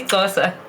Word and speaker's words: Xhosa: Easy Xhosa. you're That's how it's clicking. pronounced. Yeah. Yeah, it's the side of your cheek click for here, let me turn this off again.